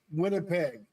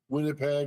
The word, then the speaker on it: Winnipeg: It's from Winnipeg, Ontario, maybe.